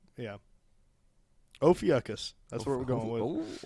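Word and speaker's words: Ophiuchus: o p h i u c u s ofus yeah oakus that's where we're going with oakus well anyways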